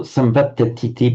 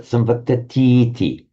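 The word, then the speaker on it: saṃvattatīti: It is a feature of the language that whenever you put this ending T, sorry, not the ending, this close quote marker, T, the vowel before it is always lengthened. So samvat, if you on its own say samvattati. If you want to put T at the end, it's not samvattatiti, but samvattatiti.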